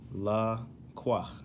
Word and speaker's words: לקח: Hebrew word Lacroix okay so it's pronounced la qua all right and in